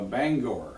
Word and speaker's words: Bangor: got a Mike Murphy came out from a Bangor okay that's how you pronounce it I have a beggar or not banger yeah yeah so he came but a lot